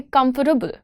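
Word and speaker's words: comfortable: We want to से कम्फर्टेबल।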